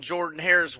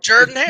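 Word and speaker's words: Jordan-Hare: Are do y'all hang banners or do y'all paint it on Jordan Harris walls like national titles this year?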